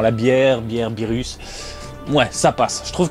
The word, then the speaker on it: Beerus: Je sais maintenant prononcer Beerus, voilà, merci à vous.